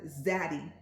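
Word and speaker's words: zaddy: still working and it's the word zatty with Z as in zebra okay so you spell it like the word Daddy but with a z so z a d d y 25 and that will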